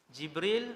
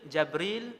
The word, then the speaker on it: Jibril: Jibril, Jabril, Jibrail, Jibrail. 4 cara baca. Semua sahih.